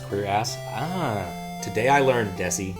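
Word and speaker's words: cuirass: to press your ass is pronounced queer ass ah today I learned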